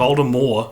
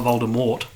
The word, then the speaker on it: Voldemort: me ID Cara Lee according to JK Rowling it's pronounced of older more not Voldemort yeah fair enough so